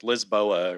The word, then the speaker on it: Lisboa: pronunciation guy in Portuguese it's not Lisbon what is it like Lisboa or something Lisboa right l booa